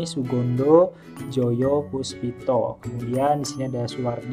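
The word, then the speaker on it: Soegondo Djojopoespito: Jadi O dan E itu dibacanya U ya. Kayak di sini Sugondo Joyo Puspito.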